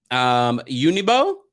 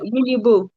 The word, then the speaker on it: Uniboo: Unibo, I'm going to bring you up. Did I pronounce that correctly? It's Boo. Wait, say again? Uniboo.